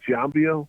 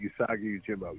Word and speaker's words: Usagi Yojimbo: Jambio? Usagi Yojimbo? There you go. You said it. Usagi Yojimbo.